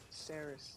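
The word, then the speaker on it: Seris: Her name's Sirius or Ceres? Ceres. That's how you say it.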